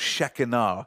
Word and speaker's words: Shekinah: shekinah glory of god actually pronounced shekinah so when the glory